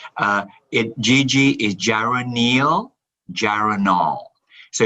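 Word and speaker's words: geraniol: know it's gg but we got the correct pronunciation yes uh it gg is gyroneal gyranol so it's actually two molecules of uh gyranol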